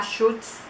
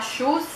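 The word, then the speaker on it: Schulz: Essa aqui é a Air Plus da Schultz.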